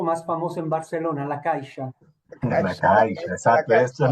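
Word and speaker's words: caixa: Caisha con X. C A I X A. En castellano es caja.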